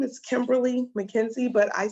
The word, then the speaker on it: Kemberly: My name is Kemberly McKenzie, but I spell it uniquely.